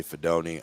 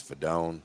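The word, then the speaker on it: Fidone: When you're telling me he's NFL talent, and I say it wrong. I say Fedoni. I think it's Fedone, whatever.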